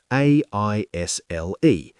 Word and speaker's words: aisle: A I S L E. Too many letters, very dramatic. But we pronounce it simply, aisle.